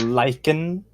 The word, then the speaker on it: lichen: It's pronounced lichen, you bint. Lichen?